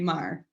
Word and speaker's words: Marr: Yeah, so your third great grandfather, John Mar, is that how you say it? Marr. Yeah, Mar. like M-A-R. M-A-R.